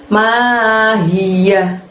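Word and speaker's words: مَا هِيَهْ: Lalu setelah itu ada lafadz mahiyah. Ma panjangnya 2, hi-nya dari tenggorokan bagian bawah, yahnya pendek berakhiran hak. Mahiyah.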